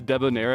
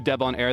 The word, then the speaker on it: Debonair: tag Deb on air because it spelled the same as Deb on air tragically my last name is also a regular word I don't know if